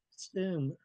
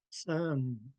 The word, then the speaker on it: sin: So I was taught to pronounce this word as sin, but other speakers pronounce it sun. And neither one of them are wrong.